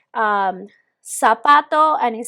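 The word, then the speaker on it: zapato: sa so su okay letter z in spain they will pronounce it differently all right it will be something like that but we generally tried or we generally use this as uh pronounce this as an s in all latin america and i am going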